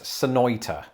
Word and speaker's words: Sonoita: that makes no sense could this be another example of an american place name that's pronounced a bit more englishly than you'd expect is englishly a word it is now if so i'm going to guess sonoita oh i'm never doing that again but yes i am back in